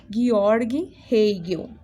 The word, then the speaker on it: Georg Hegel: Georg Hegel é a pronúncia correta do nome dele.